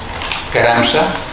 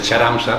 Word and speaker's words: Charamsa: Ara ja passaré a presentar el nostre convidat d'avui, Christoph Caramsa, que li he preguntat com es pronuncia lo de Charamsa, perquè sonava molt malament lo de Charamsa, no? I m'ha dit Caramsa.